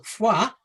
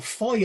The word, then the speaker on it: Foy: Uh one of Juno's generals was General Fua or Foy as we seem to mispronounce it in this country.